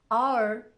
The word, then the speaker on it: hour: Sometimes it's not pronounced at the start of a word like honest, hour.